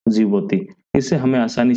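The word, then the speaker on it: Djibouti: Egypt Yemen और जिबोती इसके आगे डी है साइलेंट है जिबोती इसको कहते हैं देखो अलग-अलग ट्रिक में इसको डी से प्रोनाउंस किया जाता है पर हम इसको इसलिए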